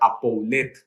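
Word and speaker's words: ἀπολύω: perdonar viene de la palabra en griego que se pronuncia a pouler que significa soltar que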